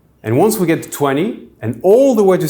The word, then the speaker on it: vingt: So the number 20 in French is 20, with GT in the end, but pronounced exactly like the French word for wine, vin.